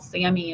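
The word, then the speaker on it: SAMe: is Sam II and you'll see that written as all caps SI m and then a lowercase e and it's called Sammy is how you say that and the Sammy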